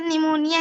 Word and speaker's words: pneumonia: हाँ, मैम इसकी हिंदी और इंग्लिश में बहुत जैसे निमोनिया हिंदी में ना लगा है, इसमें इंग्लिश में पी लगा है, हाँ, जो साइलेंट है हिंदी लेकिन में निमोनिया बोलेंगे लेकिन इसमें पी लगता है।